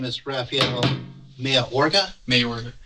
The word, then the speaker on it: Mayorga: Mayorga. Okay, I'm pronouncing that correctly? Yes.